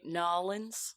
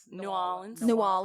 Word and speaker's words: New Orleans: Do you say Nolans? I can't even say it. That was a terrible New Orleans.